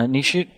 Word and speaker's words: Nishit: so i'm going to go very slowly uh nishite is that your name that's right okay if i mispronounce it please let me know i'm not